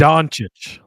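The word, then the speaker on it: Dončić: fan or even a somebody please somebody please pronounce that for me Luca it's donic Luca donic LCA donic thank you Cody for that did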